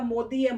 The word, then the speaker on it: मोदी: इनका भी वही काम है, उनको अभी तक इंडिया में रह के मोदी जी को प्रोनाउंस करना नाम नहीं आता, मोदी है, मोडी नहीं है।